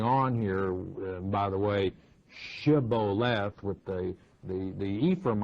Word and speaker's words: Shibboleth: said they unto him say now ship lope Shibboleth and he said Sybil left for he could not frame to pronounce it right then they took him